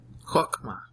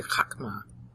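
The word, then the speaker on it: חכמה: Chokma is how they pronounce it today, but it's really chakma.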